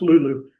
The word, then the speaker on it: lolo: things that Lulu in it's actually written as though it might be Lolo, but it's pronounced Lulu in Malagasy.